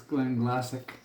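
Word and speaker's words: Glenglassaugh: looking for the alternative the proper way to say it pronunciation it's Glen glassic I know it doesn't make any sense but then that's the beauty of gall the thing is though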